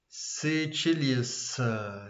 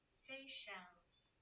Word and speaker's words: Seychelles: How to pronounce it? Sicilius, Sicilis, how to say? I couldn't. Let me check. Let me check it. How to pronounce? Seychelles.